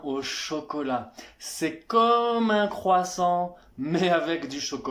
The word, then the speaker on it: croissant: Y no es crepes, croissants, papas a la francesas, escargots. Primero que nada de eso se pronuncia así. O sea, se dice croissant, crepe, escargot.